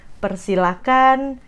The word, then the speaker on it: persilakan: Jadi, silakan, persilakan, jangan pakai H, itu dari pronunciation-nya.